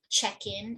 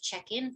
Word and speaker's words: check-in: So if it's being used as a verb, for example, I'd like to check in, please. Okay, this is receiving more stress than this. I'd like to check in, please. Whereas if I'm asking what time is check-in, this is stressed.